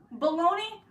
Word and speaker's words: bologna: like pronounce it out baloney look it's pronounced like that but it looks like bologna how can baloney and